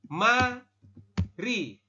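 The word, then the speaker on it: 말이: baca di sini ya Anda membacanya bukan Mali tetapi membacanya adalah Ma Ri Kenapa mariem karena perubahannya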